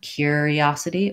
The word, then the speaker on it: curiosity: I do think you can also say cure curiosity or curiosity um so I would say either